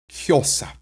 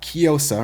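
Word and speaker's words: kjósa: Kjosa. It's not kiosa, right? It's kjosa.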